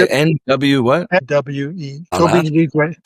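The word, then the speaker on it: Tobi Nwigwe: Toby Wigwe. Toby Wigwe is how you say it, but he's a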